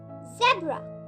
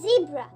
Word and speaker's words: zebra: And lastly, Z for zebra, which can also be pronounced as zebra.